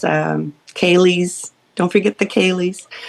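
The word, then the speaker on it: ceilidh: Don't forget the Kalies.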